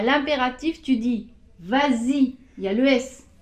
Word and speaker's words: vas-y: aussi ce serait pareil il faut rajouter ce s pour la prononciation pour pouvoir dire bah si mais si je